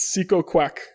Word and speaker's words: Psykokwak: It's Seco Quack. Seco Quack. Seco Quack. Seco Isn't Quack. that fucking awesome? And it's spelled Psykokwak.